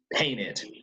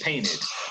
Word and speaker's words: painted: since we end in a tea it is pronounced painted american english painted british english painted okay okay so don't forget these now this